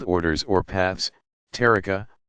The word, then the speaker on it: tariqa: Spiritual guides of the various Sufi organizations called orders or paths, tariqa, pronounced ta'ariqa, also generally bear the title of sheikh or its Persian equivalent, pir, pronounced pir.